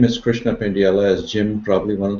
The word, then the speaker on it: Pendyala: before that um uh my name is Krishna pendella as Jim probably one of the few people who pronounced my name correctly L thank you Jim